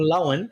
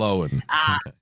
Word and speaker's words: Lohan: If we just had Lindsay Lohan blows everyone, or Lohan, apparently as it's meant to be pronounced. Lohan.